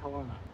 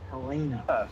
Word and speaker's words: Helena: you're beating that 1996 turtle that's departing walking Helena beside you. yeah, just. Okay, Progress. question for everyone. Why do you say Helena? It's Helena.